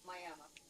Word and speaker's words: Miami: It's spelled the same as Miami, but everyone in Oklahoma calls it Miami.